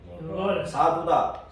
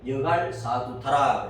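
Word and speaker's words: 여갈사하두다: 전거의 무더기 이름을 정했는데 돌기둥 무더기의 이름을 정했는데 자 따라서 여갈 여갈 사두다. 사두다. 이리 보세요. 이리 보세요. 이리 보세요. 여갈 사두다. 여갈 사두다. 자 정확한 발음은 여갈 사두타입니다.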